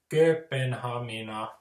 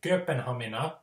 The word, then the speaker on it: Kööpenhamina: It's like a stop in momentum, Kööpenhamina. Like when I say Kööpenhamina, you don't hear that